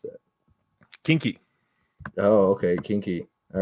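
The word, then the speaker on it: quinqui: Recommend I don't know how to pronounce that. Kinky.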